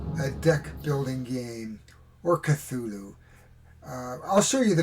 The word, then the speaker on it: Cthulhu: and we'll show you how to actually pronounce it it's more like how did hp lovecraft pronounce this word well the short answer is callallu so this game came